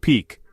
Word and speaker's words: PEOC: They call it the Presidential Emergency Operations Center or PEOC pronounced peak, but you won't find photos of it from that time.